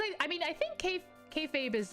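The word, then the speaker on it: kayfabe: unhelpful okay fabe okay did you guys hear what it said it said k fave e okay okay yeah he says k fabe okay um i don't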